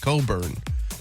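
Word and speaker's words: Cockburn: That's But you pronounce it Coburn and she changed it.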